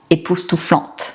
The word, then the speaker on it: époustouflante: Encore une fois, on prononce le T. Époustouflant, époustouflante.